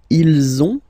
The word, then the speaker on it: ils ont: if you can see, you get this final S and final S here, okay, and then you will have to make the little link between the two. Ils ont, ils ont, ils ont, okay, and